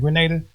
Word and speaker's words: Grenada: It's Grenada.